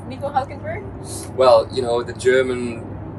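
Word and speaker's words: Nico Hülkenberg: I liked it but how is it it's Nico hulkenberg well you know the German way is obviously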